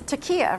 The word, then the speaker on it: taqiyya: Yeah, I mean, it's taqiyya, right?